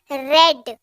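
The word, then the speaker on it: read: हैज के साथ हमेशा V3 यूज होता है, और यहाँ पर रेड V3 है रीड का, राइट? स्पेलिंग सेम होती है लेकिन उच्चारण अलग हो जाता है V3 में, ठीक है?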